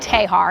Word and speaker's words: Texar: It looks like Texar. Uh it's spelled T E X A R but we call it Tahar.